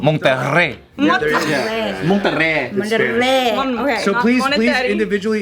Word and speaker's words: Monterey: Like oh my God, Monetary Park alone. Like Monetary Park? Monetary Park! Nice. Yeah! No, that's good. Monetary. How do you say it? Monterey.